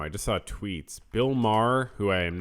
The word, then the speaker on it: Maher: that for example is Bill Mah and it's not it's not spelled it's spelled Mayer or Maher Bill Maher but it's Mah so that it's sort of it's French um he is a